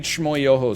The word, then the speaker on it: Schmoyoho: an old internet thing great schmoyoho song you're not wrong accent on the yoho my man was just